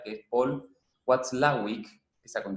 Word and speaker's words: Watzlawick: que también tiene un apellido muy difícil de pronunciar, que es Paul Watzlawick, que está con W, tiene una Z en el medio, Paul Watzlawick. Bueno, Watzlawick, en la escuela de Palo Alto, en California,